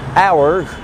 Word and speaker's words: hour: الاتش في الانجليش بتبقى سايلنت في honest، honor، hour، herb، زي herbal tea، وده في الامريكان انجليش يعني عيش بالاعشاب، herbal herbal tea.